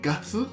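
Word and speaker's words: 月: Entonces, a este kanji con solo ponerle un numerito atrás, por ejemplo, el mes 12, Junigatsu, esto se lee Gatsu al contar los meses, la luna número 12 que es diciembre.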